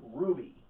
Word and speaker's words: RWBY: So, let's dig into the long-anticipated RWBY. Yes, I checked, that's how it's pronounced.